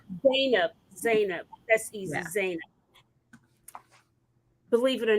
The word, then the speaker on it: Zainab: time and next i'm going to bring up and correct me if i mispronounced your name did i do that yeah nina zainab that's easy believe it or not mary did